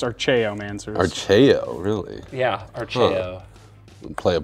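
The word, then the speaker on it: Archaeomancer: with my answers man archaeom answers whatever I'm gonna get two planes are you pretty sure it's pronounced our Cheo man sir archeo really yeah play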